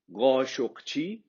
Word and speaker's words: Khashoggi: So that is how you pronounce. The correct origin is khashoggi.